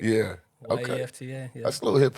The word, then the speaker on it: Yefta: It's spelled different. It's spelled. Oh, snap. So you just like Americanized it for us. Yeah, in a way, made it easy. Just made it phonetic. Yeah. Okay. Yefta.